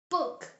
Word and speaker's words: Buch: book Das Buch ist interessant. The book is interesting. C, pronounced tsay.